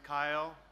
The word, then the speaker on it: Kyle: My name's Kyle. Easy to remember, it rhymes with smile.